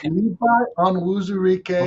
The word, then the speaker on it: Onwuzurike: Well, on that note, I say Levi Onwuzurike. Before Tom stutters himself into oblivion here, I think that is how you say his name.